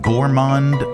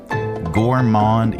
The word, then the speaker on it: gourmand: go number on um how do you pronounce this? Gourand syndrome. Gourmand. Yeah, gourmand syndrome is a